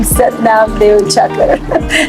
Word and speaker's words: Satnam Deuchakar: And because my father called us Deuchakar, I pronounced my name Satnam Deuchakar.